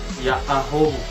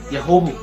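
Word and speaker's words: Ya'ahowu: Kalau nadanya pelan, pengucapannya jelas. Ya ahobu. Tapi kalau nadanya agak cepat, maka terdengar ya hobu. Ya ahobu kawan. Ya hobu kawan. Hobu gitu.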